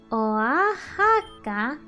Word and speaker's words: Oaxaca: Queso oxada se pronuncia... Oa. Oaxaca.